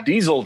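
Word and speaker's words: Dyszel: was it yeah it's it's spelled d-y-s-z-e-l that is yeah diesel to me all right so this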